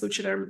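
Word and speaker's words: Leuchtturm: But Muji and I think it's pronounced Luciderm. It's a German company.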